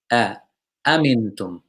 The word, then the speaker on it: أأمنتم: أأمنتم Yes, there are two hamzas in the beginning of this word. Amintum. Amintum. Make sure you pronounce both hamzas clear. Amintum.